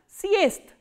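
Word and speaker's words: съезд: So, what happens when a voiced consonant comes in the end? They are pronounced as their voiceless counterparts. So, what is the voiceless counterpart of z? This is sa. And what is the voiceless counterpart of the? Is the. That is why we are pronouncing this word as siest.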